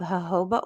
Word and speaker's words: jojoba: And then you have jojoba oil. You don't pronounce those J's, you guys.